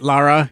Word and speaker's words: Lara: Lara is how you pronounce it.